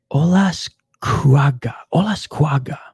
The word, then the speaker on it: Olascuaga: Olascuaga. That's how you pronounce his name. What's up, Get Darstroked? After this fight, buddy. After this fight. Olascuaga, 6-1 as a pro.